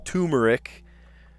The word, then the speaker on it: turmeric: Turmeric. It's funny that people pronounce it different ways. I've heard turmeric, and turmeric. Like people just ignore the R. Turmeric. It's right there.